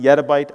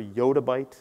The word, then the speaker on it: yottabyte: And as some people pronounce it yettabyte, I prefer yottabyte is what I prefer, I'd say.